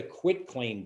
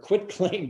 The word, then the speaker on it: quitclaim: thing don't use the quit claim deed use a grant deed which your title insurance follows with that too many people they think it's pronounced quick q-u-i-c-k and it's quit and it it doesn't